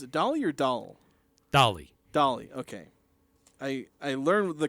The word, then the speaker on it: Dahl: Dolly, okay. I learned the correct pronunciation, and then I forgot which one was which, and then I was confused.